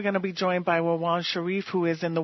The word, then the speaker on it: Rawan: Am I pronouncing your name correctly? Yes, it's Rawan.